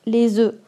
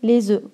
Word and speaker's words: œufs: هنا يا كتلاحظوا باللي مكتوبه اوف ياك ولكن في الجمع البيض في الجمع كيتنطق لي زو الا كان عندكم الا كانت عندكم واحد البيضه كنقولوا ان اوف ولا عندكم البيض بزاف كنقولوا لي زو او بيان دي زو